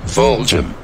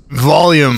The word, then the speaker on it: Voljum: pronounce my name like Vol'jin off Thomas it's pronounced like this volume volume volume volume volume